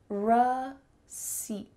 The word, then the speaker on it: receipt: Receipt, receipt, receipt.